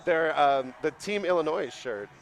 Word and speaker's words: Illinois: City Rollers from Chicago Illinois because only idiots pronounce the s oops you're going to say oh pronounce it Illinois they're the team Illinois shirt like has the